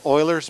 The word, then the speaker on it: Euler: and roll for you here slope fields and euler's method that's pronounced euler e-u-l-e-r legend has it that the